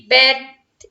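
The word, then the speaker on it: bathe: बात तो हम इसे जब प्रोनाउंस करते हैं जब नाउन के रूप में यूज होता है, वर्ब के रूप में यूज होता है तो हम इसे बेथ बोलते हैं।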